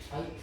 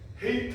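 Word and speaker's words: height: 하이트. 응. 헤이트 아니고 하이트라고 읽어.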